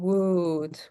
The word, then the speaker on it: would: And remember should and would. We never pronounce the L.